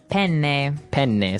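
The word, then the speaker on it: penne: pronounce uh we said pen in uh in English in American English but in proper Italian it would be pen pen so you you you double pronounce the consonant yes what about fetui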